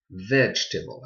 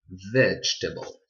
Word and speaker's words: vegetable: include like a table table is just one syllables vegetable I repeat vegetable I want you to know English language English